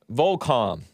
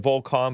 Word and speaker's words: Volcom: Volcom. I like pronouncing it Volcom, but some people call it Volcom.